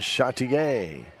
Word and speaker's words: Chartier: It's Jalen Chartier. What are you laughing about? That's how you say it. Very Jalen French. Chartier. And she is French. French heritage.